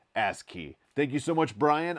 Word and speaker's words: ASCII: pronounced the code as asc2 which is incorrect brian vines very graciously pointed out that it's actually pronounced as key just like it sounds as key thank you so much